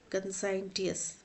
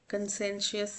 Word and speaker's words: conscientious: Spelling होते हैं CONSCIENTIOUS, कंसाइंटियस। एन नहीं है यहाँ पे, कंसेंशियस नहीं होगा, कंसाइंटियस, ऑप्शन डी इज करेक्ट।